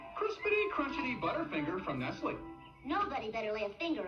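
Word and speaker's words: Nestlé: there is the word nestle in blue text on a golden outline it's pronounced nestle not nestle nestle thank you very much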